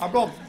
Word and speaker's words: Arbroath: Arbroath. I think, sir, you might even be from Arbroath. You were so enthusiastic about that. Arbroath. Arbroath. It sounds like a broth with a nice Scottish accent, doesn't it, as opposed to mine.